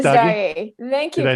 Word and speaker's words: Messdaghi: Messdaghi. Very close. Messdaghi. Messdaghi.